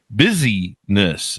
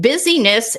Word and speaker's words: busyness: Now you title your book, you use the word busyness, and it's spelled busy as in busy and then ness.